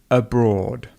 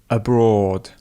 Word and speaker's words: abroad: So abroad, we wouldn't put so much focus on a, we would say he is abroad, rather than a. Can you practice that with me now? So abroad, abroad.